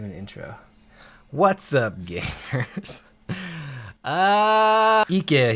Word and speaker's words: Ique: Ique here. That's how you say it.